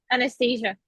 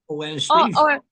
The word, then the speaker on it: Anastasia: Is that how you say your name? Uh, I say my name um Anastasia. Anastasia or Nasia? Nasia is just a shorter version, but Anastasia is probably easier.